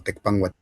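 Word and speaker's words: Tecpán: traducido como Tecpang Guatemalán, hoy pronunciado como Tecpang.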